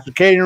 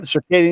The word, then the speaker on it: circadian: Ciccadian rhythm. Circadian.